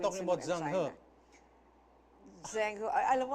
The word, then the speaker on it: Zheng He: You're not talking about Zheng He. Zheng He. Alam mo, ang hirap ng pronunciation. Zheng He. Yeah. Admiral. Zheng He. Zheng He. Yeah, ganun ang pronunciation.